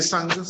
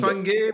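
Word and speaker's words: Sangue: Oui, c'est Sang, oui. S-A-N-G-U-E. G-U-E, Sang. Oui. Comment tu prononces, Sang ou Sangu? Bon, Sang. Sangué, bon, Sangué, c'est la même chose. Vous pouvez dire Sangué.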